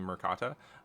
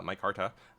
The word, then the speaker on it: Micarta: comments some people like apparently I've been mispronouncing Micarta uh so like legitimately thank you I've been saying marata uh Micarta and uh you know